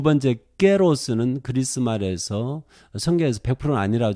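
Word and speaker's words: καιρός: 그리고 이 때라고 하는 이 에트는 깨로스, 현대 그리스어로 발음하면 깨로스가 되겠는데 이렇게 번역을 했어요. 깨로스. 신학교에서 일반적으로 카이로스 그러는데 지금 그리스 사람들은 깨로스 이렇게 발음합니다.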